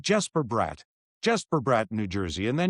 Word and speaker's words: Bratt: It's like Jesper Bratt in New Jersey, and then Jesper Bratt and Jesper Bratt.